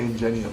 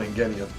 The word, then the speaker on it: Ingenium: brother like this, and Ingenium's like, why do you keep doing that? I'm mad you say Ingenium. I call him Ingenium, but you know, you can pronounce it either way.